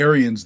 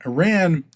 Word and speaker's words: Iran: Iran the Germanic pronunciation of Iran. Back in the 430s to 650s which is where this gets its prominence was Aryan. They couldn't pronounce the I in Iranian.